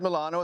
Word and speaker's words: Milano: As I said, Milano is how they say it in Italy.